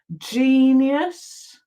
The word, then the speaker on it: genius: Okay, we've got giant, genius. Okay, that follows the rule, the E. So you see we've got an I and an E, so that makes it a soft G.